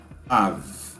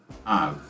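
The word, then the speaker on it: אב: E a pronúncia dela é av. Av.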